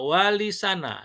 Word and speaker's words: Wali Sana: Muhammad Adnan kata Wali Songo merupakan perubahan atau kerancuan dalam pengucapan kata sana yang berasal dari kata tsana atau mulia yang yang serupa dengan kata terpuji. Sehingga menurutnya pengucapan yang benar adalah wali sana yang berarti wali-wali yang terpuji.